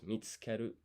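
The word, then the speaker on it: 見つける: yeah, so as I thought, that U here is pretty silent. You don't pronounce it. So it's mitsukeru.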